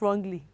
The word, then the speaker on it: wrong: have w-r-i-t-e what is that children we don't pronounce wrongly you're correct it is right w-r-o-n-g is what